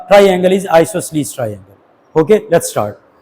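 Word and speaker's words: isosceles: Most of the students they think कि आइसोसेलस, आइसोसलस। तो ये मैंने Google लिया है उस्ताद जी से। ये मैं प्ले करता हूं। आइसोसलीस आइसोसलीस आइसोसलीस आइसोसलस ठीक है तो आपने प्रोनाउंसिएशन में प्रॉब्लम नहीं लेनी।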